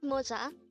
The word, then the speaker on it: 모자: mocha this is pronounced as a two-syllable word the first syllable is pronounce it with me the word moza is a Korean noun